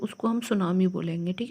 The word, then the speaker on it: tsunami: आप बोर्ड देखेंगे तो टेस्ट नमी होगा तब सुनामी तो इसको स्टार्स में साइलेंट होता इसलिए हम इसको सुनामी बोलेंगे ठीक है सुनामी का